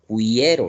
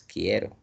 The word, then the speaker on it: quiero: Pero no es solo eso, sino que en quiero la u no suena, no tiene sonido, solo está sonando la i y la e. O sea, que hay solo diptongo creciente. La u es como si no existiera porque no tiene sonido. Tú no pronuncias cuiero, ¿no? Si no dices quiero y e no más está sonando.